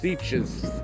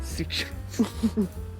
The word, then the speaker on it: Sitges: Rhymes with beaches. Sitges and beaches. Sitges.